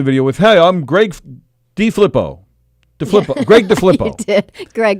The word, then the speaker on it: DeFilippo: And in the video, he goes, "Hey, Greg DeFlippo." Like it's D.I.? DeFlippo? DeFlippo, Greg DeFlippo. Yeah, so either we've been saying his name wrong forever and a day, or he doesn't know how to say his own name. It's spelled DeFilippo.